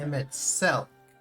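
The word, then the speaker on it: Emet-Selch: Emmet Selk is how you pronounce it.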